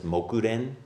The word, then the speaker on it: Mokuren: refer to him as mokuren that's the japanese pronunciation of this name and that's what i'm